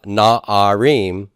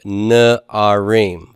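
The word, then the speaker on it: נערים: followed by comets so the plural of na R is not na re m-- but na are ream vocals comets like devouring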